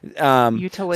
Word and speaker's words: utilitarianism: Do I pronounce it wrong? Yeah, it's utilitarianism. Utilitarianism.